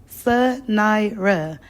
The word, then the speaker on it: Sanira: 3 syllables, Sanira.